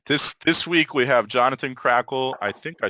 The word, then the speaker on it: Krackehl: uh yeah right this this week we Jonathan crackle I think I spelled your name wrong or maybe I didn't I don't know